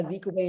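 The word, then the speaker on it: Azikiwe: were two buildings named after zeke away and no kuma is nakrumah those um first letters have a strong pronunciation for the name as in english we would say it's something else but it's a zika way in nakuma and kuruma no wait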